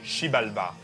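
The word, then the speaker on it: Xibalba: sur le monde souterrain shibalba parce que oui la langue maya le X fut le prononce CH Oui les maillots ils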